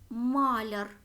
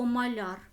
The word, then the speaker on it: маляр: Тому це тверда група іменник маляр або маляр залежно від наголосу належить то до твердої